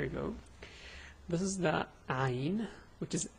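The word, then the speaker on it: عين: So this is Ayn. The pronunciation is A, U, Ay.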